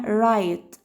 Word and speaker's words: right: آخر كلمة معانا right right يمين يعني right right. كل الكلمات دي قبل الجي اتش في اي، فعشان كده مش بنطقه ملوش صوت.